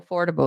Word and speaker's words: affordable: in the sound uh most people they will stress the end of the word where you should be stressing the beginning vegetable comfortable affordable okay